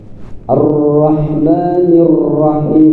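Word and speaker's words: الرحمن الرحيم: Arrahmanirrahim. Itu jadinya berapa puting rnya di situ. Sifat takrir di dalam huruf ra yang bergetar itu kata para alim ulama getarannya hanya satu kali.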